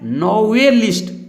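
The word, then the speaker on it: novelist: अब इसको हम लोग ऐसे नहीं पढ़ेंगे, नॉवेलिस्ट नहीं पढ़ेंगे, नॉवे नहीं पढ़ना है, पढ़ना है नॉवेलिस्ट।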